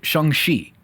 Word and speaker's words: Shang-Chi: it does nothing um shang chi came out as how some people pronounce it but kevin feige pronounced it shengshi are we that we